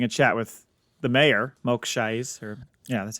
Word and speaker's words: Mok Shaiz: who is having a chat with the mayor, Mok Shaiz, that's how you say his name.